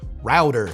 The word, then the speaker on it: router: And as is standard in American English, the T in router becomes a D router.